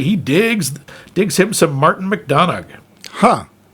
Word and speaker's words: McDonagh: digs him some Martin McDonagh. Huh. I think it's just McDonough, but there you go. Yeah, it's a Celtic last name, so sometimes you pronounce the last two.